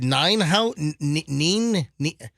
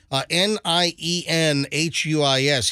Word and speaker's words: Nienhuis: Al, is it Ninehouse? I don't know how to say his name. I always thought it was Ninehouse. Ninehouse? Ninehouse? Nienhuis.